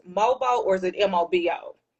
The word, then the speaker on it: MOBO: Tiny Desk performance, and you were also nominated for an award reflecting your rising influence, which is it pronounced MOBO or is it MOBO?